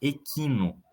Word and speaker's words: equino: fala por exemplo Equino você não fala Equino O correto é falar Equino ainda que se escreva e q u i n o apesar disso se pronuncia Equino porque não tinha trema no tá vendo que